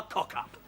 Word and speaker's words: cock-up: I don't want a cock-up. First, let's get the pronunciation right. We moved the k sound from the end of cock to the front of the sound from up.